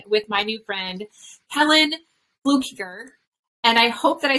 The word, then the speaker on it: Fluckiger: amazing enlightening conversation with my new friend helen blue kicker and i hope that i said that correctly because i people get my name wrong all the time so fluker yes that